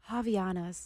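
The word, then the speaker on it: Havaianas: Javanas.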